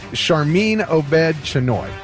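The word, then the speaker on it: Sharmeen Obaid-Chinoy: sure I say her name right it is charmine OED chenoy that is her name and she was a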